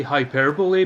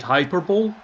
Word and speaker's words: hyperbole: And he meant to say hyperbole, but he said Hyperbowl.